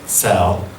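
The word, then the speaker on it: צל: a shadow it's the it's pronounced cell it means shade or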